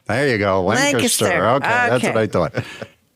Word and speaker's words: Lancaster: I say Lancaster. There you go, Lancaster.